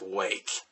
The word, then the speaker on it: Rwake: of just copyright infringement they adopted the r in front of wake but it is still pronounced wake and for those of